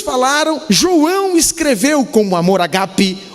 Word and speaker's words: ágape: definir amor o ágape muito comumente traduzido foi pronunciado como a gap mas é o ágape que é o amor